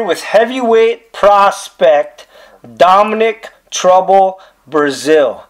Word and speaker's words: Breazeale: pronounce this man's name it is pronounced like the country Brazil yes sir just like